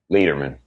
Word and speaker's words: Leiderman: Is your last name is it Leatherman or Lightman? Leatherman. Leatherman? See, I I Like like I'm a leader, man. Leader? Hell yeah. There you go.